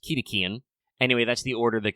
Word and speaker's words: cetacean: Obviously, if you're familiar with your biology, the word usually said cetacean, but I guess should probably technically be pronounced Ketacean.